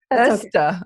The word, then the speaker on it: Öste: Öste.